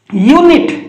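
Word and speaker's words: unit: करले य बोली उच्चारण करले देखुछंती य रो उच्चारण करले किंतु एठी देखंतु यूनिट एठी य हर्षौ यूनिट रो आरंभ करले यू अछि किंतु यू रो आरंभ करले यूनिट यूनिट।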